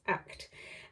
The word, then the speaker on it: AKT: But it looks on the website, or you know, like when you buy it, it looks like AKT, but apparently that is pronounced ACT.